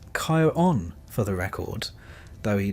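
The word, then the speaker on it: Charon: if you've never quite been sure how to pronounce his name. It's Kyon, for the record, though he doesn't seem the type to correct you.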